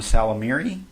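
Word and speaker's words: Ysalamiri: Called, it starts with a Y, but I believe the Y is silent, so I'm just going to call them Salamiri.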